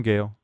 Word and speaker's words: Gael: like a nickname yeah hi I'm Gail because that is how you say it like just Gail yeah hi I'm Gail